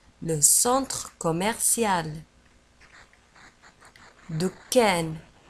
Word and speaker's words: commercial: ولاحظوا على أن كوميرسيال نجد فيها اثنان ام، يعني ام ام او، كوميرسيال. وفي آخر الكلمة نجد سي اي ال وتنطق سيال، كوميرسيال. Le centre commercial.